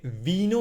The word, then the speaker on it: vino: uh the wi uh it's actually like almost like a b nooo no no because we close our lips we don't say Vino with open lips we we close the lips booo no quite interesting